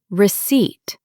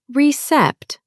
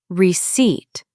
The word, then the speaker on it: receipt: The next one is receipt. Not recept, it's receipt. Repeat gently. Receipt. Receipt. The P is silent.